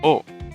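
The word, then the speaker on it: を: in the japanese language this character isn't actually pronounced woe at all it is an irregular and is pronounced like o like the vowel so what's the use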